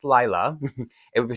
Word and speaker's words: Lila: Chinese or Japanese but her name pronounced phonetically in English is Laya l i l a oh it's really trickier